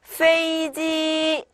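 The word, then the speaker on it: 飞机: 자, 다음에 飞机 네, 역시나 뒤를 조금 더 길게 읽어주시는 게 좋고요. 네, 비행기라는 뜻을 갖습니다.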